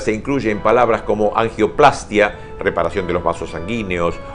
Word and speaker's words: angioplastia: reparación de la nariz, corresponde aclarar que la pronunciación de estos vocablos debe ser con mayor fuerza en la primera A de plastia y no sobre la I de angioplastía o rinoplastía, pues no va y es muy bueno leerlo.